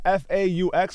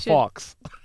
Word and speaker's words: faux: F-A-U-X, a faw? Is it a faw? Yeah, that's what it is. A faw, but you don't say the X, right? Not a fox.